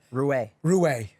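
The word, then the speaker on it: Ruais: Roué. I'm fucking Close. always wrong. It's better. Roué. Looks like Ruiz. If you saw it, you think it's Ruiz. He says everyone thinks Ruiz, but he's a white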